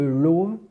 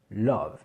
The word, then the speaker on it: love: Donc au lieu de love, on dit bien love.